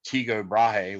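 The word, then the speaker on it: Tycho Brahe: heard of kepler and very few people heard of teego brahe which i think is a more proper pronunciation but i call him tico brady uh but anyways he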